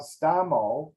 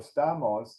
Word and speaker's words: Stamos: little bit more so instead of calling myself stomo or Stamos I just decided like every other American to get a one syllable right Joe John whatever so I became just stumb instead of Stamo and my big joke